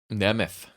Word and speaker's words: Nemeth: Nemeth is the correct pronunciation.